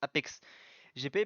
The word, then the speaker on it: APX GP: Donc, selon Julien Febvre, les voitures, enfin les deux voitures de l'Apex GP, donc APX GP qui se prononce Apex GP, prendront le départ du tour de formation dimanche du British GP.